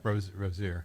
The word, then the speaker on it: Rozier: Yeah, Rozier.